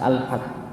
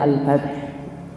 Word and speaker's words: Al-Fath: Saya bacanya Al-Fath. Bukan Ustaz, Al-Fath. Saya tuliskan. Ini dari kata Fatah kan begitu ya. Masih kalau bahasa. Kan kalau bahasa Arab kalau itu kan tulisannya Masjid Al-Fath, ALFATH. Ya, FATH.